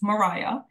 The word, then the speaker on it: Maria: So Maria, although it's spelled Maria, it's phonetically pronounced Mariah.